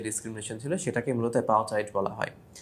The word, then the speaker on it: apartheid: শব্দটার উচ্চারণ অ্যাপারথাইড।